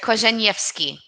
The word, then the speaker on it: Korzeniewski: Korzeniewski.